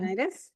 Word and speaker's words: Laurinaitis: Did I pronounce that right? Yeah, Laurinaitis?